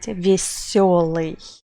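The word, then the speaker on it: весёлый: For example, let's take a look at word веселый. It means cheerful. You can see that usually we write it with letter ye, but we pronounce it with letter yo because we know which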